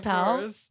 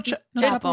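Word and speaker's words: Chappell Roan: Wait, is it Chappelle? No, Chapel. You said it right.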